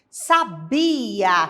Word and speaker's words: sabia: a a sílaba forte sabia que vem do verbo saber é a penúltima sílaba que é a sílaba tônica sabe o be é a sílaba tônica sábia é a antepenúltima sílaba inclusive está acentuada também ela é a sílaba tônica da palavra sábia e vamos seguir é